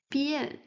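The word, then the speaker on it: 变: So b, yen, bien. With the fourth tone, bien, bien.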